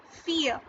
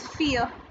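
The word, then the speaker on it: fille: Most of the French words ending in double LE do not have an ending sound as L. So girl, this is the French word for girl, which is pronounced as fear.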